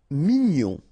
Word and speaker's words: mignon: Mignon, okay, here in that case, G-N-O-N, gnon, mignon. Sourd, final day not pronounced, O-U together, ou sourd.